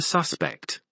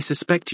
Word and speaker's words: suspect: both nouns and verbs the noun her stress on the first syllable o o you are the suspect the verb has stress on the second syllable o oh I suspect you respect witness hairbrush football